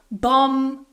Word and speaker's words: bomb: So for example, in the word bomb, climb, tomb, we don't say bomb, climb, tomb. The B is silent in all of these words.